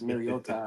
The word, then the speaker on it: Mariota: I just can't believe I gotta watch Marcus Mariota again, bro.